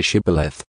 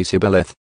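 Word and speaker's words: Shibboleth: said no i'm not they would tell him to say shibaleth if he was from aframe he would say sibeleth because people from a frame cannot pronounce the word correctly then they would take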